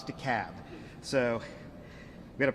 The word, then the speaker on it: DeKalb: DeKalb County, 802. And I want to take a note of personal privilege for a second for the Yankees in the room. It's DeKalb, not DeKalb, not DeKalb, it's DeKalb.